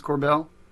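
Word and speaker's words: Korbel: the Joseph Corbell, is that the way you pronounce Corbell?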